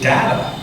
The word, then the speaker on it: Data: Is the character Data or Data?" And Gene said, "Let's set a rule right now. Whoever says the thing first, that's the way it's pronounced." And so I became Data that day.